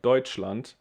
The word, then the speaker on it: Deutschland: you see uh but i pronounce it like deutschland why well because there's another tricky rule in pronunciation if you have s c h it's pronounced like and here you can see deutsche land so we have a t and then this sound and land so this one is sh and when if there's